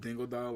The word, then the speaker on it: Dingodile: It's spelled Dingodile, like Yeah. half dingo, half crocodile.